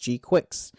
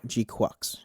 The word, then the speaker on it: GQuuuuuuX: name, it's like, "Oh, this has to be pronounced G-Quix." Like, cuz it's quick, it's fast. It's a mobile It's like, you know, it's an actual agile mobile suit. Nope, G-Quocks.